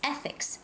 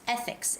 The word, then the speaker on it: ethics: haven't seen this word you know ethics it's ethics ethics it's the first syllable stress and respect this is